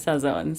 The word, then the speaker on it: Sazón: So it's s you still pronounce the n.